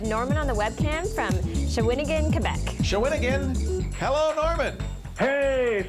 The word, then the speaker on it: Shawinigan: caller we have Norman on the webcam from shawinigan Quebec shawinigan hello Norman hey salute Norman how are you oh look at there we go beautiful Norman and shigan so how do you say that shawinigan shaan yeah shinan yeah and uh oh ho whoops